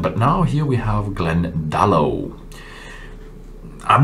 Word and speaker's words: Glendalough: bit of gaelic now you usually pronounce the first syllable of the word in the gaelic language so it should be glendalo not glendale so but i've not been